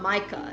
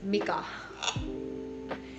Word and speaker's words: Mika: It's not Micah, it's Mika.